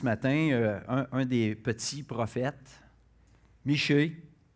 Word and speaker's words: Michée: un des petits prophète michée ou mika comme il est prononcé en a blessé plus près de la prononciation hébreu aussi qui signifie qui